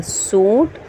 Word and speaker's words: सोंठ: नून डाल नट खांड सीन व सु नून साइलेंट और ठ सोंठ से वाव सु नून साइलेंट और फे सौंफ